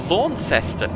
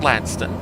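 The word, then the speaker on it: Launceston: um Tasmania Place spelled exactly the same called laest because that's how it's spelled not lanston laest and honestly lones sounds much more sensible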